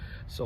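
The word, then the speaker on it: 소: So one of their most famous vehicles was Sonata, or in Korean they call it Socha, or a cow car, because cow is pronounced as so.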